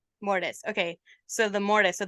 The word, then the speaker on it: Mortis: and then the sun oh no it's not M it's uh mortise mortise okay so the mortise